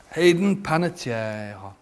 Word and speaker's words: Hayden Panettiere: Hayden Panettiere. Nicely pronounced. Thank you very much. Yeah. Let's see what Hayden Panettiere wants to know.